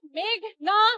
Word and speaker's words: মেঘনা: মেঘলা আলম আদালতে এসে শুনি পিপি বলছেন মেঘলা আলম আমার নাম মেঘনা আলম বাংলাদেশ একটা সুন্দর দেশ